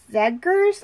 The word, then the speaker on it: Zegers: who was played by Kevin Zegers I believe is how you say his last name and his mother Jackie